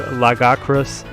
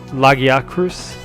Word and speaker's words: Lagiacrus: Barioth is going to switch away though into Lagacrus, or Lagiacrus. So bad at pronouncing these names.